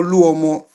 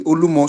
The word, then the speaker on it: Olumo: I probably follow the pronunciation of others, so it is Olumo, which is rock.